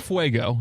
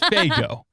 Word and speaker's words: Faygo: No, not Fuego. It's Faygo.